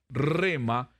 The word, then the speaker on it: rhema: está usted acá todavía ya se durmió ahora rema que es lema según el vocablo griego crema crema con jota pero se pronuncia rima quiere decir una declaración una palabra que se